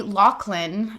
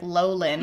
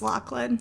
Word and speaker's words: Loughlin: Fuller House Lori Loughlin, which I thought her last name was like Lowlin or something like that. But I knew that it was Loughlin. I have such troubles pronouncing words. Why is there a G in there?